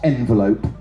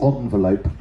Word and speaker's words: envelope: It's not envelope, it's envelope." Okay? It's a French word. It's not envelope, it's envelope, right?